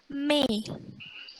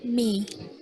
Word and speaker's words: mais: Tapi kalau yang bawah me. Jadi i-nya tuh nggak dibaca, me. Itu artinya tetapi. Gitu.